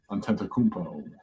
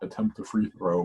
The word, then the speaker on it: Antetokounmpo: And then Antetokounmpo, not attempt a free throw.